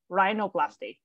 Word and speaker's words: rhinoplasty: hello yeah uh plus the plastic is mean uh Greece Construction perfect and uh for example if realoplasty right so it's Rhino remember I yep Rhino rhinoplasty Rhino plastic all right